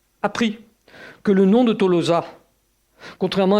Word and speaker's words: Tolosa: voyez, c'est la clé de la prononciation et la clé du fait que même quand on écrivait T-O-L-O-S-A en latin, on devait continuer logiquement à prononcer Tolosa.